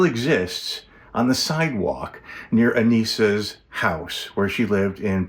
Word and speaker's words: Anissa: particular about that she people would often say Anissa but it was Ana is how she she pronounced the name how the name was pronounced so this is actually